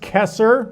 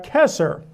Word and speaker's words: Caesar: It would have been pronounced Kesser with a K as in Kaiser, but the C went soft later in Latin. So we have Kesser.